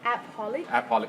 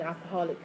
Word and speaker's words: appaholic: Appaholic, okay. Appaholic. Actually, it's from the word shopaholic. Shopaholic. Yeah. Workaholic. So now it become an appaholic.